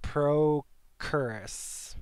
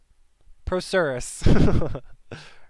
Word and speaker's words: procerus: if i was right frontalis and pro curious that's how i'm going to pronounce it prokeris pronunciation procerus process procerus okay so i was wrong procerus read books people it